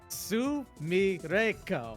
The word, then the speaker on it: Sumireko: Sumireko. It's just 4 phonetic syllables.